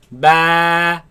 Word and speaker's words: ب: Ba. با Ba. با Ba. با Now this letter of course comes from the lips. Do not suck the lips in. Ba, ba, no. Keep the lips normal. Ba, ba, ba, ba, ba.